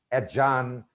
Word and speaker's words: adjourn: And here, one thing we can tell our students that before J, D is not pronounced. For example, adjective, adjacent, adjourn, adjustment. Thank you.